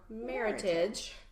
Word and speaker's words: Meritage: the American version and I like to say it's our American heritage or meritage that's how your number to say it like that and uses basically